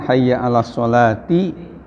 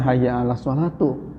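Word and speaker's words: حي على الصلاة: di At-Taubah juga yang harusnya kan hayya ala sholati, hayya ala falah ketika qomat itu ya. Ini dibacanya hayya ala sholatu. Ya. Jadi ala itu kan huruf jar. Nah, jadi huruf menjarkan, harusnya hayya ala sholati, bukan hayya ala sholatu.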